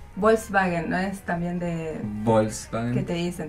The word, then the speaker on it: Volkswagen: Pero pará, Volkswagen, ¿no es también de Volkswagen? ¿Qué te dicen? Tenés que pronunciarlo así. Sí. ¿No? Volkswagen. Como así. Volkswagen. Como pronuncia yo.